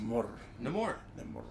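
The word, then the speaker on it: Namor: a month no more well that's how it's pronounced no more um get a negative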